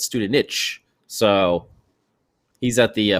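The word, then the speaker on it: Studenič: student itch student i i thought it was student nick but it's student niche so he's at the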